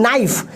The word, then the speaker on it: knife: द के is silent. मतलब इस वर्ड का रियलिटी क्या है कि इस वर्ड में के क्या है? साइलेंट है। यहां बोला क्या जा रहा है? नाइफ, बट लिखा जा रहा है KNIFE, नाइफ।